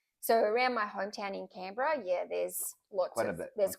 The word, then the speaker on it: Canberra: It's not Canberra, it's Canberra. Canberra.